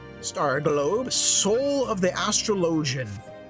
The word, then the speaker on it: Astrologian: load astrology enough yeah astrologian that's how it's pronounced for the Holy See